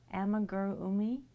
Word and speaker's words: amigurumi: Amigurumi?